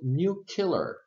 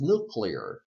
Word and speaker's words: nuclear: say this word and he said it incorrectly he said new kill new killer new killer okay the correct pronunciation is nuclear I believe and if you